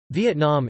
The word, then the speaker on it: Việt Nam: Vietnam, UK, US, listen, Vietnamese, Vietnam pronounced Viet Nam, listen, officially the Socialist Republic